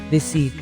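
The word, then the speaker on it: receipt: जुलता इसका एक्ट है तो रिसेप्ट इसको पढ़ना बिल्कुल गलत है क्योंकि इसमें प जो है व साइलेंट है जी हमारा अगला ल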